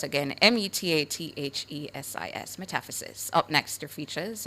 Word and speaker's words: metathesis: Your word of the day is spelled METATHESIS, METATHESIS.